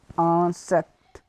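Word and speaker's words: insecte: So to insect we will say insect, insect, because in French there is a rule, so that wherever I-N come we will pronounce it as an. So it will be insect.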